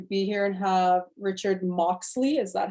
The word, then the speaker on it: Moxley: Super excited to be here and have Richard Moxley. Is that how I pronounce it properly?